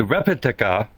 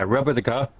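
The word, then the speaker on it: rebetika: It was called repetica. Yeah, repetica. And that's spelled R-E-B-E-T-I-K-A, which is a style of Greek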